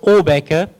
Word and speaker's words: Åbäke: And it's sometimes pronounced Åbäke, Åbäke, Åbäke, Åbäke. I'm not Swedish, but it's a Swedish word. It's pronounced Åbäke.